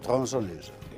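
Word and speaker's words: tronçonneuse: Eh motosierra en francés se dice eh Thonson News, se escribe Tronconeuse con la COND.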